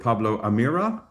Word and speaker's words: Pablo Amirá: Pablo Amira, did I pronounce that correctly?